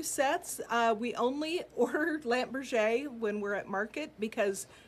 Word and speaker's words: Lampe Berger: go there we go it is pronounced lamp Berger because it is French it is okay sorry